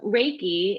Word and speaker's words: reiki: is for yourself so reiki is combining two words and just to pronounce it is rey like the sun and ki which is energy and so if we